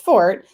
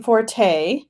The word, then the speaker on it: forte: fort but over okay it's pronounced fort it became forte oh so either way